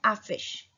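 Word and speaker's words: affiche: Poster, poster को बोलते हैं आफिश, आ फी श, सी एच का साउंड श, युन आफिश।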